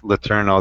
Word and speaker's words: Letourneau: I hate to say it, but it's Letourneau. That was Mary Kay Letourneau or whatever. It's spelled differently.